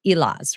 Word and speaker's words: Elaz: really honor and make sure that I'm um pronouncing your last name correctly, Elas, right?